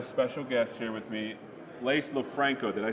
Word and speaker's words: Lofranco: It's beautiful here, it's lovely, it's sunny, and I have a special guest here with me, Lofranco.